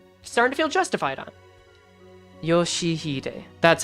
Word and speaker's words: Yoshihide: At least that part starting to feel justified on Yoshihide.